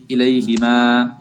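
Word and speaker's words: إليهِما: ইলাইহি, ইলাইহিমা, ইলাইহিম, ইলাইহা, ইলাইহিমা, হিমা কিন্তু হুমা না, হিমা, ইলাইহিমা, ইলাইহি, ইলাইহিমা, ইলাইহুন্না, ঠিক আছে?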